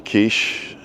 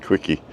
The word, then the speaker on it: quiche: I got slapped by a waitress for asking for a quiche. Seemingly it's not pronounced quickie.